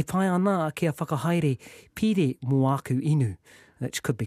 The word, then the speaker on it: pire: I quite like pire. Pire is loan or account. So P-I-R-E, if you doubt my pronunciation, pire is a loan or account.